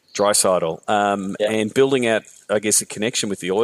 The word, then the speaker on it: Draisaitl: a lot of us a little bit more emphasis on the first part in addition to the last part dry settle dry subtle and building at I